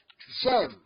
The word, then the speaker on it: J'aime: J'aime. J'aime. Have you seen that that J, je, the E of J is dropped and is replaced by apostrophe. J'aime le français. J'aime le français. This is the pronunciation.